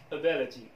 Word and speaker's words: ability: إذن هنا في عندما يكون حرف الآي في البداية ككلمة ability، لو لاحظتم أن حرف الآي يكاد لا ينطق، ability معناها قدرة واستطاعة،